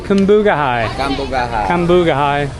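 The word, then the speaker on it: Cambugahay: So we're at Cambugahai Falls.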